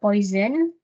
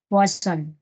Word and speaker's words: Poisson: the second one poon the is not poison here the right pronunciation is actually poon poon okay so uh this